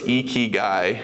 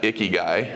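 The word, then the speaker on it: ikigai: we want to talk about is how to pronounce it right so it's eeky guy not not iy guy right I'm the iy guy but um the eky guy uh is a uh it's a Japanese term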